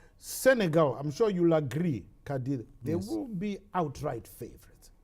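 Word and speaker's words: Qadr: That's Kadi Amini, spelled Q-A-D-R, but pronounced as if there was an I between the D and the R.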